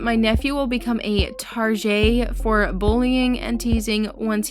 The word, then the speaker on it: Target: him the name target pronounced tarjay or like the French pronunciation of the word target that people will often